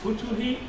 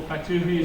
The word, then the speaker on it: Futuhi: it's Futuhi. Futuhi. Is the so I think the root comes as Arabic. Yes, So Futuh. Yeah. that's why some people call Fatuhi, some Futuhi, so it's different pronunciation.